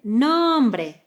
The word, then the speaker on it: nombre: like in: my name is Ana, that word, but with a slightly different pronunciation. Nooombre, nooombre.